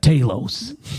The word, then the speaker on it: Talos: too scary the own character of Talos says his own name in that conversation they're having in the bar and then he's like Talos I was just like ah he told you how it's pronounced it's like if I'm